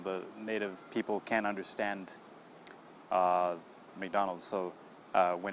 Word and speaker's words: McDonald's: Mick okay now the second part the middle part is dawn dawn okay like the name dawn okay and the last part is olds olds okay like old and then just add the s so when you put all three of those together you get Mick dawn old McDonald's yeah try that one